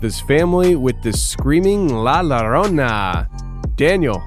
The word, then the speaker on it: La Llorona: It's La Llorona.